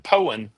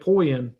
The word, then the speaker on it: Poyen: And Yeah, most that's- people who don't know how to say Poen say it wrong. They say it Poyen because it's Poyen. spelled P-O-I-N, and that's wrong.